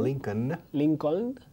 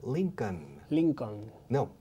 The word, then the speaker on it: Lincoln: Lincoln. Mira, la L al final es muda. Abraham Lincoln.